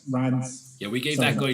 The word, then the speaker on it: Reims: was just like, oh, how'd you pronounce it? And I'm like, oh yeah, it's Reims.